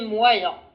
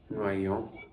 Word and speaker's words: moyen: Je dirais qu'il est moyen. Noyant.